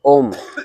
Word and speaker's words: ओम: ओम का उच्चारण करेंगे तीन हिस्सों में बांटते हैं अ उ और म वास्तव में ओंकार त्र मात्रिक है अ उ म तो मूल रूप से ओम का उच्चारण करते हैं तो सिर्फ ओम ओम ऐसा है लेकिन